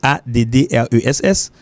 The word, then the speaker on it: address: ready me dit address les accent sur première syllabe me dit ça clair address so this is the American accent that's the real American